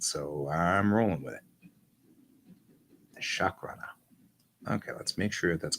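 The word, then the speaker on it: Shakrana: Okay, for those of you joining me for the first time here, this is one of my aliens, the Chakrana. Not spell, it's spelled with an A, so S-H-A-K, Chakrana, R-A-N-A, Chakrana.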